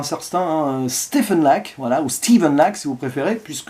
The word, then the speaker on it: Stephen: Stephen Lack, voilà, ou Steven Lack si vous préférez, puisque le prénom Stephen en VO va se prononcer Steven.